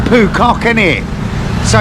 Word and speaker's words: Phu Quoc: good morning it's 7:00 I finally worked out how to say the name of the island I'm on it's poock is it so it's 7:00 in the morning on poock and um yeah we're